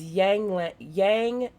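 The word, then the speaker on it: ylang-ylang: Taurus essential oil is yang lang. Hopefully my cat doesn't come running because his name's Yin Yang. That's spelled YLANG for soothing and calming energy.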